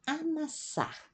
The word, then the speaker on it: amassar: 12 é o verbo amassar com duas S aqui se pronuncia como espanhol amassar o o padeiro